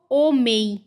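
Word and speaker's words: homem: तो जो हमारा लेटर एच है वो हमेशा साइलेंट रहता है। उसको हम नहीं पढ़ते। हम यहां पे क्या पढ़ेंगे इसको? ओमेई।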